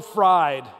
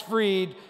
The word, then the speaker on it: Fried: your playoff hopes were fried but that's not how you say the name is it that's not how he pronounces his name he pitched six scoreless innings and the braves were freed max freed they were freed to